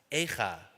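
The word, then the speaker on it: איכה: When the word AJRCA has different vowel points, the same word can be pronounced Echa, lamentations, which carries a cry of sorrow.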